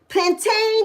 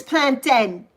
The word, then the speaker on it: plantain: It is spelled plantain. Plantain does not come from the mountain. It's planten. It's plantin. And every time I hear somebody say plantain, oh, that just goes through me. It's planten. Plantano, maduro, planten. It's not plantain.